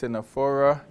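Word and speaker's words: Ctenophora: naderians then we have another small group the tinaphora the sea being silent again this is pronounced sinephora the comb jellies similar look into the nadarians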